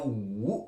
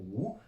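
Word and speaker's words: 五: il se prononce ou. Là, je vous l'écris parce qu'il y a une histoire par rapport à 5, ou, troisième ton.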